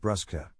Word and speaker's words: bruschetta: at here in italy in italian is pronounced brusca just as a good rule of thumb an italian ch sounds exactly like a hard k chimera kamara scherzo scared